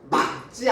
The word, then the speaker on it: 맑지: 반면에 오늘은 날씨가 맑지 않아요, 막지 않아요. 기역이 아니잖아. 기역이 아니면 밑에가 기역이 선택이 된다고. 그러면 어떻게 발음해요? 막지 않아요. 이렇게 말을 해야 돼.